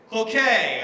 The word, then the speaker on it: Cloquet: And then a town that's a town that I can never pronounce right, because it's, can you help me out, Derek? What was the town name? Cloquet.